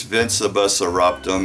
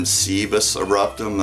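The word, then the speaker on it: Vincebus Eruptum: album vinus eruptum and it is vinus eruptum it's not been cus eruptum as I've heard uh it pronounced before and uh so really cool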